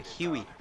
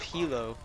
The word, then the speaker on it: Huey: calls helicopters Hilo a huey that's what it is a huey instead of Hilo it's Huey so I'm calling an